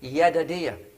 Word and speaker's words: Jedidiah: name what is not jedidiah the j in hebrew is pronounced why yada dia because of the lord